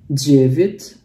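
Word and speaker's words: девять: Jadi di sini walaupun huruf ya dibacanya jadi i ya, jadi kayak bacanya bukan jevit tapi jadi jevit, dan huruf d nya dibaca kayak j ya, jevit.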